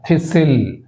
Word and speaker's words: thistle: ఇక్కడ థిసిల్, tea silent, థిసిల్.